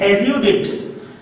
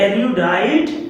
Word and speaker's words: erudite: Next is very important, erudite. erudite, इसका pronunciation पे ध्यान दीजिएगा, यह erudite नहीं है, this is erudite.